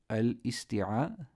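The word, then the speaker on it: الاستعاذة: That's wrong. It's a dha. It's a dhal. Say dhal, right? So you would say at-ta'awuz and al-isti'adha. Al-isti'adha.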